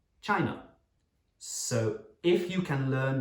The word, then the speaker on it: China: teach a lot of students who will say things like china china but no it's not an ah sound it's an uh sound china china so if you can